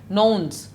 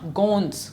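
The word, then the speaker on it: gnomes: okay next वड़े न्यूज़ इसका spelling जो है वह GN ओ एम एस लेकिन इसका प्रनंसीएशन जो है वह है नॉर्म्स नॉट गूंज नॉर्म्स ओके 110 वर्ड मींस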